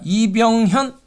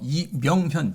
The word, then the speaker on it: 이명현: 지구인의 우주 공부, 천문학자 이병현 작가님과 이야기 나눕니다. 안녕하세요, 작가님. 네, 안녕하세요. 반갑습니다. 네. 제가 발음을 잘못했죠? 이명현 작가님.